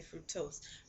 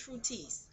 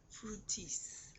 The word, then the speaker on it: Fructis: So, um, I started off using Echo Gel, and I started off using Garnier Fructose. Uh, I said fructose in my last video, but it's Fructis. Garnier Fructis.